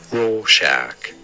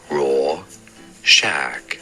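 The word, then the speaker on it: Rorschach: do you say it raw Shack Raw Shack stress on the first syllable raw Shack okay I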